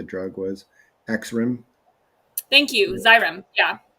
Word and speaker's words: Xyrem: Xyrem. Yeah. Xyrem. Okay, Yeah, it's pronounced with a Z, I believe, but Yeah.